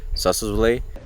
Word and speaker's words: Sossusvlei: Looking forward to go to a place that I think is the place that most tourists want to go in Namibia, the Sossusvlei.